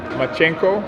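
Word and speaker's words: Lomachenko: world right now i i also like um machenko that's that's how you pronounce his name um i like him as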